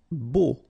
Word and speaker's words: beau: Beau. Okay, so remember we've got this strange combination of vowels. A, U, so 3 vowels, but then phonetically it's only O.